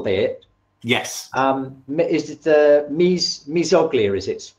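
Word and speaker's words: mesoglea: Is it the mesoglia, is it pronounced? In jellyfish, it's called mesoglia.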